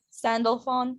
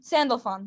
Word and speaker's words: Sandalphon: me a couple times but i i yeah sandalphon sandalphon there it is delphi um some of my